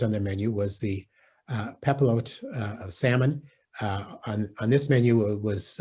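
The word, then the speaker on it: papillote: So tell us about the recipe and what is a pepilote? And am I even saying it right, Scott? You are saying it correctly.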